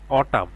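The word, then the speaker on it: autumn: Same একই রকম এখানে অটাম, অটাম লিখতে এ ইউ অ টি ইউ এম, অটাম, এন এর উচ্চারণটা এখানে কিন্তু আসে নাই।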